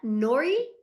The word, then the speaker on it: Nori: So, is that Nori? Is that how you say that? Did I say it right? Heck yeah, I'm getting better. Yes, you did.